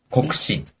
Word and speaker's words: 国史: 근데 지금은 한국사로 배우는지 모르겠지만 국사라는 발음은 어떻게 할까요? 国史 고쿠시라고 합니다.